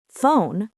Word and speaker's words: phone: The word phone has five letters, but only three sounds. F, O, N. Yes, this is called phonics. It's how children learn. They learn that ph makes an F sound. So when you see ph, you know it's probably f.